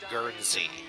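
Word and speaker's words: Guernsey: Okay, I had to check, but the island is Gernzie.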